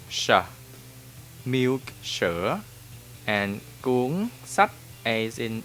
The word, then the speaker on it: sách: But any words that start with S like in sun or song in English, will pronounce sh, as in shock or in shy in English.